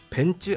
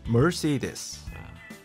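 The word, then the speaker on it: Mercedes: 원래 잘못된 영어로 제가 발음을 할게요. 우리 박희수 기자가 제대로 된 영어를 해주세요. 자, 벤츠. 벤츠 아니고요. 머시디스.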